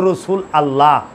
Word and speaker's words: রসুল আল্লাহ: সঠিক উচ্চারণ হইল রসুল আল্লাহ।